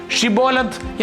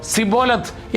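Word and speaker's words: שיבולת: കടന്നുപോകുന്ന ഓരോരുത്തരോടും ഷിബോലത്ത് എന്ന വാക്ക് ഉച്ചരിക്കാൻ അവർ ആവശ്യപ്പെട്ടു. പ്രാദേശികമായ സംസാരരീതിയിലെ വ്യത്യാസം കാരണം എഫ്രേമിയർക്ക് ഷാ എന്ന ശബ്ദം ശരിയായി ഉച്ചരിക്കാൻ കഴിയുമായിരുന്നില്ല. പകരം അവർ സിബോലത്ത് എന്നാണ് പറഞ്ഞിരുന്നത്. ഈ ഉച്ചാരണ വ്യത്യാസം അവരുടെ ഐഡന്റിറ്റി വെളിപ്പെടുത്തി.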